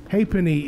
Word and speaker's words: halfpenny: Halfpenny is three syllables.